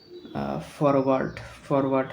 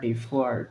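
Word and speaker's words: foreword: আচ্ছা, তারপর ফরওয়ার্ড মানে পূর্ব কথা বা ভূমিকা। দাঁড়ান, এটা উচ্চারণ হবে ফোয়ার্ড ফোয়ার্ড উচ্চারণ হবে ফোয়ার্ড মানে পূর্ব কথা বা ভূমিকা।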